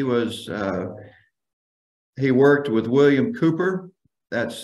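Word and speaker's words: Cowper: he worked with William Cooper that's c-o-w-p-e-r is usually pronounced Cooper uh Cooper lived in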